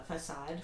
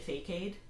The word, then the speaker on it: facade: knowing that you know the c in it is pronounced like s so i just i said i would say like fake aid so i'm pretty sure